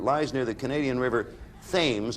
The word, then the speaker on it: Thames: City in Ontario, a province of Canada, that lies near the Canadian River Thames. I think it's pronounced Thames in Canada as opposed to Thames.